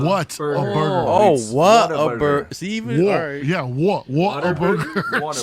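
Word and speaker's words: Whataburger: first you say it why can you not pronounce things dude I say I say waterburger but I'm not from from the area like like the like the element water no not it's what like what a burger what see yeah what a Burg water why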